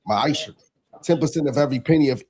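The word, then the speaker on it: מעשר: verse 8 through 10, means 10th in Hebrew and it's pronounced ma'asher.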